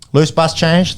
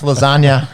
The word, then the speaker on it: Labuschagne: this week, boys, about the proper pronunciation of Marnus Labuschagne. And Loose bus change. That's pretty close, I thought. Marnus Lasagna is another one that I've heard. It's not really anything like his name.